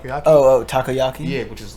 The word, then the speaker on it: takoyaki: is much much better yeah charcoal bro no mispronounce the name but I think the first time I ever had octopus was like toyakiyaki oh takoyaki yeah which is like this is just fried